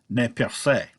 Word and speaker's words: Nez Perce: the Nez Perce which if pronounced according to the correct French would be net cafe but you know Nez Perce is the Americanized kinda like Iroquois and